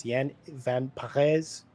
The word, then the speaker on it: Jan van Parijs: Yeah, and I'm going to do my best because I just went and asked on repeating the Dutch pronunciation. It's Jan van Parijs.